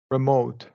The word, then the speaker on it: remote: remote yeah TV remote so schw or long e you can say remote right that's a remote